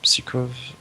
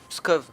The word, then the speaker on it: Pskov: Perm, Psikov. Ok, j'arrive pas à prononcer sinon. Pskov.